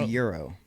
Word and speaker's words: Gyro: I love a lot of those MVP Axiom gyro. I guess I could just say gyro. But I love a lot of those mid-ranges. It's pronounced Euro.